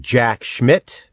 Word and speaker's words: Jack Schmidt: it's no coincidence that Jack Schmidt rhymes with Jack sh well you know what it rhymes with he evades police as